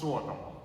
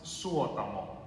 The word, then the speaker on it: Suotamo: Jonas Suotamo. Okay. You pronounce every word in Finland. There's no Finnish has no silent letters. No. We don't silence our letters. We want it all in there. Every letter counts.